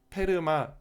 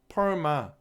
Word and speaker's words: PERMA: 그래서 페르마 또는 뭐 펄마 이런 식으로 발음을 하는데요.